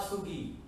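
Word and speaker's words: 서기: This is what we call Moa Sugi.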